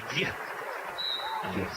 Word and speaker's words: Guy: In the way it's actually pronounced, it would be Guy. Fama Guy.